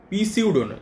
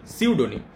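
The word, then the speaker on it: pseudonym: ছদ্দ নাম তাকে আমরা বলি সিউডোনি সিউডোনি এর উচ্চারণটা কিন্তু পিসিউডো সিউডোনি পিটা সাইলেন্ট উচ্চারণ হবে নাউন্স ডিউ টু এ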